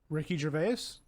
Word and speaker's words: Gervais: gervais yeah he's awesome now you say his name ricky gervais yeah yeah oh i guess i've been saying it wrong i thought yeah i thought you had to like since it was a ais it was like some